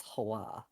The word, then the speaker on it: Hawa: doing right but like it's not pronounced that way it's it's hawa yeah um so it'd